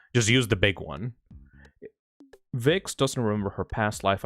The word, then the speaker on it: Vixie: Vixie. Vixie by Beast Marrow. Vix. She her. Yeah. Okay. It's pronounced Vix.